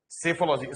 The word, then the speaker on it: psephology: सेफोलॉजी spelling P silent है, PSEPHOLOGY।